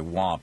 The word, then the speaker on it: Wamp: Congressman Wamp, I think it's actually Wamp is how he pronounces it, or he would prefer that it's pronounced W-A-M-P, the Republican Zack Wamp, the